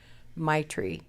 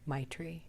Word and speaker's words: Maitri: I heard this wonderful Buddhist word, Maitri, which when translated means unconditional friendliness toward all.